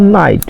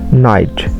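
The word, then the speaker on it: night: আই জি এইচ এর উচ্চারণের সময় জি উচ্চারিত হয় না। আর জি এর স্থানে আই উচ্চারিত হয়। যেমন নাইট নাই সমান সমান আই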